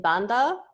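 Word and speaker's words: bandha: Like in Banda, the H is behind the D, so therefore it becomes silent.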